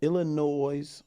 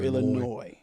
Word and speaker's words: Illinois: Is it pronounced Illinois or Illinois? Depends on where you're from. Depends on who you're talking to.